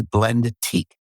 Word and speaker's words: Blendique: company and the name of the company is Blendique and that's spelled B L E N D E T I Q U E Blendique.